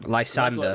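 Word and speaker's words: Lysandre: And how do you pronounce X and Y's villain? Lysander.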